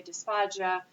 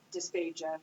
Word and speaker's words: dysphagia: Some people may say dysphagia, but we're in Texas, so it was dysphagia, hard G.